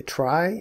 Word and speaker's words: trie: the data structure is called a try it's spelled t r i e and a try is